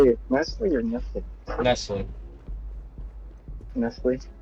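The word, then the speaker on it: Nestlé: is silent that's yeah the tea is silent don't don't put the tea in it to see man just let's let's put it this way in the American language it's nestly okay in in the foreign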